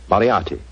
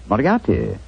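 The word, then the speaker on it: Moriarty: Moriati. Moriati.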